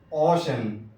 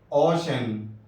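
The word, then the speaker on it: ocean: یا آئی، اے ہو تو اب سی کا تلفظ شین سے ہوتا ہے۔ سی کے بعد ای، اے ایک ساتھ آئے یا آئی، اے ایک ساتھ آئے تو اب ایسی صورت میں سی کا تلفظ شین سے ہوگا، جیسے اوشن، اوشن، اوشن۔ دیکھیے سی کے بعد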